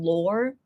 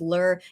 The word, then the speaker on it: lore: I will the the the correct pronunciation being lore I think I might get used to it but if not if I keep pronouncing it as lur yeah I'll just pronounce